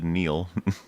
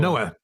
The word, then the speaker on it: Noah: I think he said that if the show where did I get his name wrong? The Neil Noah Neil Neil Noah Noah thank you.